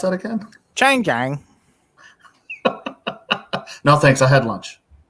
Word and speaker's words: Changjiang: How do you pronounce that again? Changjiang.